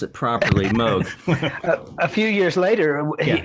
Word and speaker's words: Moog: to pronounce it properly Moog a few years later he he came out with an instrument called the Rogue the Moog Rogue and he did that so that people would hopefully learn oh yeah that how